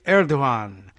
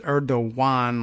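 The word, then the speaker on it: Erdoğan: And we've been told to pronounce it sort of as Erdogan, like a W.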